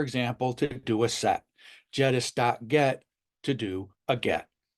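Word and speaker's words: Jedis: using the jettus client library jettus and that is how it's pronounced you don't get a lightsaber with this jettus like many of the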